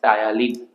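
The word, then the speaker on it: ptyalin: Main যে এনজাইমটা কাজ করে আমাদের বোলাসের উপর, that is salivary amylase, also known as টায়ালিন। টায়ালিনের spelling হচ্ছে এটা, অলসো নোন অ্যাজ টায়ালিন, পিটা সাইলেন্ট, হ্যাঁ, টায়ালিন।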